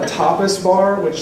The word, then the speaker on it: tapas: a tapas bar which sounds really bad whenever you say it wrong inside of it try not to say that but it was a restaurant okay it was just a restaurant but tapas ta pas is a family-style meal